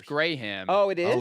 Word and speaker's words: Graham: Why is there one syllable for you guys? And I wonder why we do two.